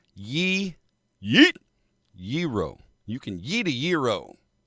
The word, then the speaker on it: gyro: There's no hard G. Yeet. Gyro.